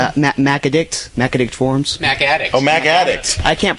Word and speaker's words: MacAddict: So MacAday people, MacAddict forums. Mac Addict. Oh, MacAddict. I can't pronounce.